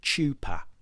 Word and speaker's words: chuppah: The next one comes out, chuppah. Not as many of you would have pronounced it. Chuppah.